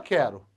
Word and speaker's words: quero: Olha só, o QU eu consegui substituir por um K. E a pronúncia continua quero.